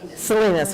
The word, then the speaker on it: Salinas: April in Elkhorn Slough, Pebble Beach in May, July, how do you pronounce Salinas? Salinas, okay, I got that wrong, sorry.